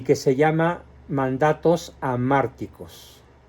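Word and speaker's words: hamárticos: que se llama mandatos amárticos se escribe con h a márticos y la palabra anártico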